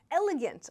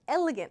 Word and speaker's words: elegant: Don't mispronounce. Sometimes people struggle with this and it sounds like arrogant. Elegant, practice that L sound, yeah?